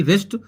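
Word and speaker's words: wrist: है डब्लू से डब्लू आर आई एस टी रेस्ट restmins होती है कलाई जैसे की रैप डब्लू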